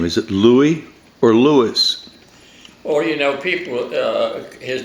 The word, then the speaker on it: Louis: Is it Louie or Louis? Well, you know, people, his name is Louie Goldstein.